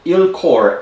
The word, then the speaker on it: ILCOR: commit committee on resuscitation it's spelled ill-core ilcor that committee international committee